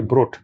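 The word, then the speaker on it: Brot: যে ভোট মানে আর উচ্চারণ একটু ডিফারেন্ট মানে বিআর ওটি ব্রোট আবেন ব্রোট ব্রোট হলো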